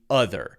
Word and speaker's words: other: very similar okay the other so that's an O other other but it's clearly a short u sound other it's not other